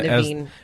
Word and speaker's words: Naveen: Yeah, Naveen.